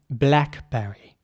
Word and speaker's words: blackberry: All right, now, blackberry. Blackberry is spelled B-L-A-C-K-B-E-R-R-Y, blackberry, and you may know the brand BlackBerry that was very popular a few years ago.